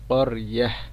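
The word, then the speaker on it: قرية: ওয়াদরিব লাহুম মাথালান আসহাবাল করিয়াহ, করিয়াহ এখানে তাটা যখন আমরা ওয়াকফ করব তখন তাটা গোল হার উচ্চারণ হবে, অর্থাৎ হার উচ্চারণ হবে করিয়াহ।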